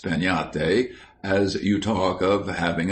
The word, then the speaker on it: piñata: But everywhere children would be talking about breaking a piñate, pronounced peñate, as you talk of having a tree.